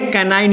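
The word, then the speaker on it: canine: ये है कैनाइन या कैनिन। मैंने फिर बता दिया कि अलग अलग डिक्शनरी अलग अलग प्रोनाउंसिएशन देती है।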